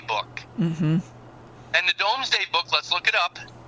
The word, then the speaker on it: Domesday: By the way, it's called the Domesday Book. Mm-hmm. And the Domesday Book, let's look it up.